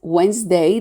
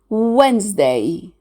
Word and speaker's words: Wednesday: The way we write Wednesday doesn't match the way we pronounce it. Wednesday. So we drop out the D letter. We don't pronounce it.